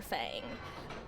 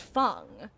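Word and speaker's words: Feng: my boy called her Fang." And Behavior actually reached out to me and said, "Hey, just so you know, her name is pronounced Fung, and we would really like you to pronounce it correctly.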